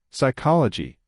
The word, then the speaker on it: psychology: Psychology. The P is silent.